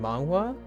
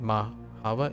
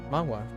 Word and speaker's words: manhwa: Korean dramas always with your girlfriend and read manhwa. Nice. Don't know how to say it. Yeah, manhwa. Or oh no, wait, mahwa. Is that something else? Oh, manhwa. Yeah, manhwa. MANHWA. That's how I pronounce it.